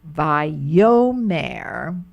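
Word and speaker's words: וַיֹּאמֶר: Now there they put the accent on the yo. Vayomer.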